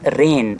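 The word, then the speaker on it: reign: फॉर has discipline and administration in हज़ रेन। यहां पे जी लिखते हैं। प्रोनाउंस नहीं करते। साइलेंट है।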